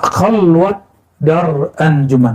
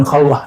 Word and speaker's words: khalwat dar anjuman: Nah, khalwat dar anjuman bukan khalwah ya. Orang Persia tidak bisa baca ah itu dalam pelafalannya walaupun di hari-hari bisa khalwat dar aljuman.